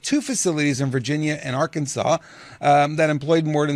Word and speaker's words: Arkansas: follows the Aransas AR Aransas or Arkansas how do you pronounce that I grew up in Canada help me out here sorry I had to muted Arkansas Arkansas okay Arkansas based company's closure